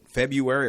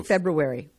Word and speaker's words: February: do you say it February or do you I say February February yeah the r is in there yeah yes February February